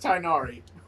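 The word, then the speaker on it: Tighnari: Oh, that's just Tainari. I was about to ask how the hell you pronounce his name, so the G is silent.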